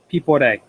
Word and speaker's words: Piporé: Pipe P. This little accent means we it gives it kind of like a shark pronunciation. people at a a gives it the stress on the E.